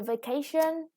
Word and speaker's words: vacation: Yeah, with the vacation, the second syllable is stress, and abroad, the stress is on the second syllable also.